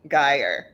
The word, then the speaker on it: Gajer: It's like higher with a G, Gajer.